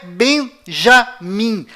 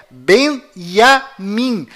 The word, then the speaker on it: Benjamin: em israel é tchau além disso não é benjamin a pronúncia correta é benjamin pois lembre-se até hoje não existe em hebraico nenhuma letra com som dj confira é benjamin metaniarro